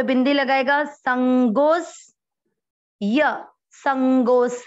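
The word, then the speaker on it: सङ्गोऽस्य: इसमें संगोस जो लिखा हुआ है ये स्य के पहले यहाँ पर एक अवग्रह आएगा, आप बोलते हुए भी उच्चारण करते हुए आपको लग जाएगा संगोस्य, गो को अपन खींच रहे हैं क्योंकि यहाँ अवग्रह है इसमें नहीं है, आप इसमें ऐड कर लें।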